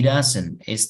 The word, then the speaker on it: doesn't: Entonces, he doesn't. Doesn't va a sonar más suave al conectarse con el he anterior, como si fuera una R.